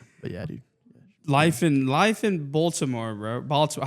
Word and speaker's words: Baltimore: Life in Baltimore, bro. Baltimore. How do you say it? Is it I say Baltimore. I say Baltimore. Oh. BA, like ball. Like Baltimore. Ball. Like ball.